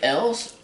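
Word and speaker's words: Elwes: The guy in Robin Hood, Carrie, how do you pronounce his last name? Carrie Elves? Evs? Carrie Yules? Carrie Yules, yeah, the guy who also played in Princess Bride.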